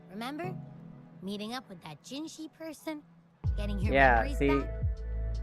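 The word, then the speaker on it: Jinhsi: meeting up with that gingi person getting your memories back I've got you her name is pronounced as gingi but how it's spelled out is like J Jin J C speaking of that so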